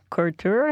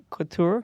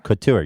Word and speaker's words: couture: your your cart or court or a court or or sure how do you say it Couture Couture your court or is